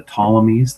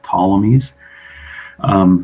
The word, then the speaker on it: Ptolemies: the Old and the New Testament are the Ptolemies. That's spelled Ptolemies, the Ptolemies.